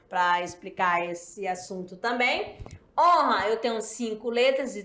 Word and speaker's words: honra: explicar esse assunto também honra eu tenho cinco letras de três fonemas belezinha Como já foi dito o h não é pronunciado e o n nasal porque ele é dígrafo vamos praticar É isso